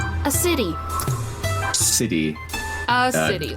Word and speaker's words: Acidy: Like a city, a city. Ah, like acidic. Alright. There you go. AC. Can you spell that for me, please? It is ASSIDY. Acidy. You... Like acidic, but with a Y.